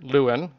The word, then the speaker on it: Lewin: authored or attributed to Kurt Luen or LaVine as we pronounce it but he actually never